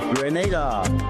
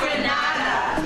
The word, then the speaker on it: Grenada: So, today like we German say we are in Granada, but I heard in English it's called Grenada. Say it right. Grenada. Say it right. Grenada. That's right. There we go. Say right. It's not Granada. It's right.